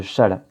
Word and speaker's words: Chasles: Alors ça s'écrit Chasles, mais ça se dit bien relation de Chasles.